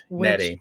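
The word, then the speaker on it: Nette: Is it Andrew Nettie or Andrew Nett? I've never heard his name spoke. Nettie. Okay, I said it right first time. Yes, I for a long time assumed it was just Nett, and I think he's very Australian.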